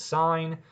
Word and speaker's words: sine: When you see the abbreviation SIN, we'll say this out loud as sine.